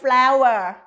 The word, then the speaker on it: flour: theo đó chính là từ flower từ này nhiều người hay dễ đọc nhầm xem từ Flo lắm nha tuy nhiên từ pro là sàn nhà thì nó sẽ viết như thế này còn cái từ flower là bột mì và nó sẽ đọc giống như bông hoa độc y chang bông hoa luôn các bạn Nhớ nha